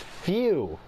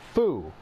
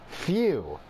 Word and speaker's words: Fu: None of us know who Few is, or Few. What he wants. Okay, so it's pronounced Few. Not foo. Few.